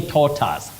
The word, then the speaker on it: tortoise: Then we have at Macau Felicitas, you say tortoise.